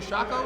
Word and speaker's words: Shako: Y'all have won the Silver Shako, is that how you say it? Shako, Silver Shako.